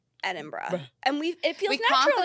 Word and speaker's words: Edinburgh: and I'm nervous edra it's never Edinburough no we know that and we know that and nobody say it like that and don't say Edinburg oh don't say that we know it's not that we know and we confidently say Edinburgh and we it feels